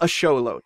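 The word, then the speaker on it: axolotl: toward the end where you're not quite pronouncing the L but you're beginning to pronounce the L like aot like there's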